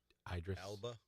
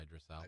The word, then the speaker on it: Idris Elba: The Idris Idris Elba. Yeah, Idris Elba. Idris Elba. I know who he is. Yeah, yeah. But I always can't. I think it's Idris. Idris.